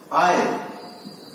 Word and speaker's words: isle: Okay, in the word island, S is silent.